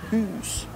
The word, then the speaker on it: hus: Hus. Hus, con la U.